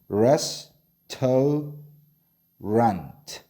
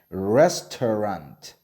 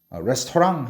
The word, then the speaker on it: restaurant: R이니까 얘도 혀를 많이 꽈서 이렇게 발음해줘야 돼요. 그래서 어떻게 발음해야 돼? restaurant. 그죠? 이렇게 발음해야 되죠. restaurant. restaurant. 자, 따라할게요. restaurant. 이렇게 되는 거예요. 다시 어떻게 발음한다고? restaurant. 레스토랑 하면 돼요, 안 돼요?